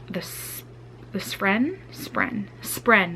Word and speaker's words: spren: this this friend spren spren that's the word I always say it wrong the spreen and what they look